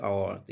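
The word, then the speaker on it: hour: The train is arriving in dash आवर। यहां article भरना है। तो यहां देखिए इसका उच्चारण अ से होता है। इसी लेकर के इसको वोवेल कह सकते हैं। वोवेल से शुरू होता है।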